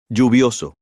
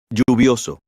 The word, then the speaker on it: lluvioso: Lluvioso. You may notice that the pronunciation of Elle.